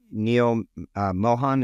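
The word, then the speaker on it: Neal Mohan: we went on the air, quote unquote, is Neil Mohan.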